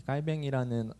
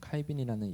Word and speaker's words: 깔뱅: 이 깔뱅이라는 원어 발음보다 존 칼빈이라는 영어식 발음으로 많이 불리죠.